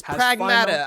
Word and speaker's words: Pragmata: I need to know because this Friday, Pragmata, Pragmata, however you want to pronounce it. It is Pragmata.